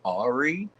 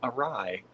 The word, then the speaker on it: awry: I'm like, Ari? Ari? No, it's awry.